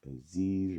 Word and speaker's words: Aziz: It's your boy Aziz, rhymes with disease.